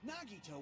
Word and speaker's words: Nagito: it's you right nagito oh nag I will always say his name wrong that's right nagito wasn't there just me have